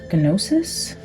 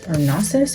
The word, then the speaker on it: Gnosis: Gnosis or Gnosis. I think somebody told me that G is silent.